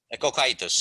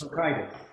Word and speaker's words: Cocytus: Yes, and you can see there are parts, particularly in the last chapter on Raffaele, how do you pronounce this? Cocytus? Cocytus, yes. Cocytus.